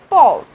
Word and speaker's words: peuvent: Okay, so vous pouvez, and the last is il, elle, peuvent. We do not pronounce E and T in the end, okay, we do not pronounce this, we just speak per.